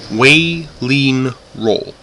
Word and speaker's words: Waeleenrol: Kingdom of Waeleenrol. Waeleenrol. Just so people can pronounce it correctly.